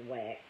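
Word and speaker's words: Wachs: now she puts it wax spelled w HS pronounced wax had discovered Eddie mercy and Bob's other clients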